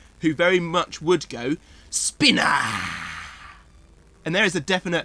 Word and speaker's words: Spinnahhs: oh ok challenge yes the h is silent i was going for that as well i was going for that as well oh bugger yeah isn't it spinner the way you pronounce